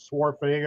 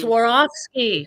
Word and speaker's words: Swarovski: I forget how you pronounce it, Swartfega or something. Mhm. Swarovski. What? Huh? How do you Swarovski crystal.